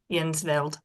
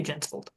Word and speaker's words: Jensvold: this time Jen I well it's Scandinavian so Jay Fjord Jay is basically we PR I pronounce it jensvold but I think the my Viking ancestors called it uh yensel but I I say jensvold okay um this is